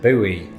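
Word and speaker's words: buoy: is that thing a boy can serve many purposes its biggest purpose though is starting flame Wars between Brits and Americans the latter of whom usually pronounce it Bowie but are you sick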